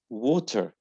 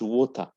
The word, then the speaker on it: water: For example, it's not water. No, it's water. Water. Without R. Water. In British, without R. So don't pronounce R in the final word. In the final position of the word, don't pronounce R. Just say water, water. It's do, not door, door. Okay, so American say R. So in American, say water. Say R, water.